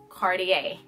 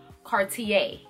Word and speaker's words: Cartier: the second designer we're gonna get into is Cartier Cartier so let's pronounce it together car T a put it